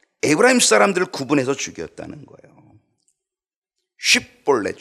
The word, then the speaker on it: 쉽볼렛: 사람들을 구분서 죽였다는 거예요 쉽볼렛 쉽볼렛이라고 하는데이 쉽이라는이 이거를 아마 발음을 잘 못해 십볼렛 이렇게 밖에 발음을 잘 못 하는 거 같아요 일본 사람들이 발음이 좀